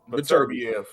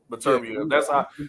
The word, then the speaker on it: Beterbiev: How does he pronounce his name? Beterbiev. Beterbiev.